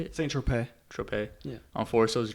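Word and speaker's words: Saint-Tropez: Saint Tropez.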